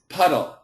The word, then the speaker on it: puddle: cute that's very cute but it's not poodle it's puddle puddle okay so let let's